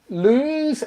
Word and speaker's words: lose: kind of way okay lose and loose they sound different and they are different loses the verb loose is